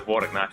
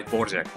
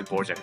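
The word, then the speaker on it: Dvořák: I believe it was by by no borak I not not the Borak by Borjek. It was by Borjek.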